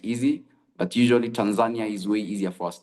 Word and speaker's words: Tanzania: So um most people and foreigners pronounce is um I'm going on a trip to Tan um to Tanzania. I think that's how you pronounce. But for us we pronounce Tanzania. So if I tell uh if I want to tell my friend I'm going to Tanzania Swahilia say Nienda Tanzania or Tanzania depending on how we find it easy.